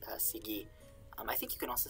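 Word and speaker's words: σιγή: Sielpi, it's one way to pronounce it in this era of Greek, and the other is sigi.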